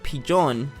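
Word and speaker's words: ピジョン: is the english equivalent for a pigeon it's pronounced pijon and spelled pijon but that's its name cool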